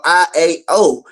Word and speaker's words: IAO: Or IAO. However you want Iota, to pronounce Alpha, it. and It Omega. doesn't matter. Iota and Alpha makes the Yah, and then the Omega makes the O.